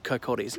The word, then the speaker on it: Kirkcaldy: It's called Kirkcaldy, although it's spelled Kirkcaldy.